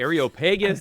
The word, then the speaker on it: Areopagus: Areopagus, saying, by the way, thank you for pronouncing that for me. Yeah, I know. How do you say that? Okay. The Areopagus, the Areopagus.